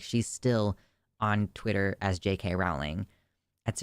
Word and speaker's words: Rowling: still on Twitter as JK Rowling that's it's actually it's JK rolling I know how to correctly pronounce it I won't sorry not